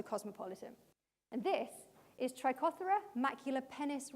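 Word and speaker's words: maculipennis: And this is Trichothera maculapennis, rhymes with Dennis.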